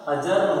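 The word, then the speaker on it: adjourn: अजर्न होगा। ए के साथ में DJ आ गया, ए का तो हो गया अ, और D को हम बोलेंगे, D को मैंने क्या बोला? साइलेंट हो जाएगा।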